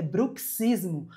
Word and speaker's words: bruxismo: Se você quer se referir ao ato de ranger os dentes, é bruxismo. Você deve pronunciar assim como pronuncia táxi.